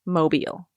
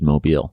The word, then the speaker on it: Mobile: here on out yes mobile it is it is indeed mobile so mobile alabama someone can tell